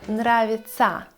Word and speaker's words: нравится: Если вы видите в глаголе тся или тя, то вы должны читать это слово со звуком ца. Мне нравится или знакомиться.